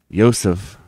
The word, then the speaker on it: Joseph: Yosef. See, notice I'm not pronouncing the J's.